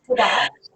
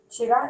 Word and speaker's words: Chugach: as part of the, I cannot pronounce that. Chugach. Say it again. Chugach Yeah, there you National go.